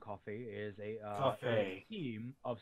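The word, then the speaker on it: CFVY: ] sense right yeah team coffee pronounced team coffee is a uh Team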